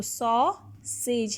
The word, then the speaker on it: sausage: of one vowel, okay, because E is silent here. It is not producing any kind of sound, so it is also only producing a sound of A. So saw, sage.